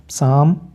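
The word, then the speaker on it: calm: code इसी तरीके से साम अब यहां पर भी एल की आवाज नहीं है और काफ गाय का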